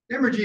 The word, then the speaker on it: emergy: The Odums rely on the concept of emergy, spelled with an M like emerge.